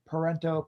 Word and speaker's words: Parenteau: web you can view my website uh parento poet for hire my last name is spelled p-a-r-e-n-t-e it's not italian but everyone thinks